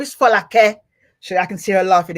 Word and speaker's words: Folake: Now, her name is Folake, and I better pronounce it properly because I am Nigerian. I won't do the English. Folake. Her name is Folake.